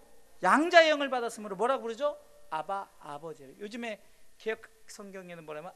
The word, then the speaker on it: 아바: 아바, 아버지. 요즘에 개역 성경에는 뭐라면 아빠라고 나와요. 아빠, 아버지. 아바, 아버지. 이게 이 아바란 발음이 원래 아빠란 발음이에요.